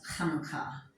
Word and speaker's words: Hanukkah: The reason for that is because it is a chet. Literally how you say Hanukkah is Hanukkah. It isn't CH, it isn't Hanukkah or Chanukah, which I've heard on TV, like, God bless them.